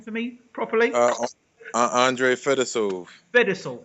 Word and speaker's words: Fedosov: So can you pronounce the guy's name for me properly? ANDREY Fedosov. Fedosov.